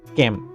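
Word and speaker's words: calm: room শ্রেণী কৈক্ষক এটা ক্যাম এল sir silent letter ক্যাম ক্যাম মানে হান্ট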